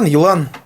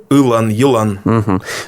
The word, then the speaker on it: Елан: Как правильно его произносить по-башкирски? Елан. Вот. Ну, там первое получается, вот если по звуку, по-русски, и краткое, да? Если по-башкирски, то Елан.